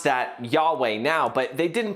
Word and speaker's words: Yahweh: We kind of pronounce that Yahweh now, but they didn't pronounce it back then.